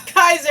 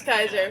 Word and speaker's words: Kaiser: Is it Kaiser? It rhymes with Skyzer Gerbagente. It's Kaiser, isn't it? I think that might be an Herba Mate dealer. Yeah, It's Kaiser.